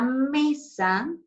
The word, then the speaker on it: mesa: caso es la sílaba la palabra mesa tiene mayor fuerza de voz en la sílaba me porque es porque esa es la forma correcta de pronunciarla si nosotros pronunciamos misa